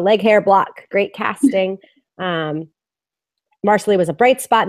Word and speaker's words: Marsali: Marcelly isn't half that bad. There's a lot of love for Marsley. Yeah. They're saying it's Marsley Oh, sorry. rhymes with parsley.